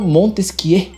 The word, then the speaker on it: Montesquieu: Vamos para o Montesquieu. Se pronuncia assim porque ele é francês, o Barão de Montesquieu também, beleza?